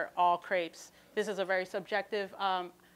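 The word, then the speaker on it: crêpe: background or what as well excuse me about crepes crepes originated in France really started to flourish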